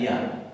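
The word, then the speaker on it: γεια: Se escribe geia y se pronuncia ya, igual que la preposición.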